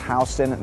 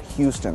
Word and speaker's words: Houston: So anyways, Soho actually stands for South of Houston because it's a neighborhood south of Houston Street, and it's pronounced Houston, not Houston.